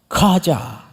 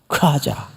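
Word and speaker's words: חזה: 하자. 예, 이게 봤다는 뜻이에요. 하자. 그런데 원래 히브리 정통 발음대로 하려면 그 앞에다가 들릴 듯 말 듯 하자. 이래 이게 정통 발음이에요. 하자.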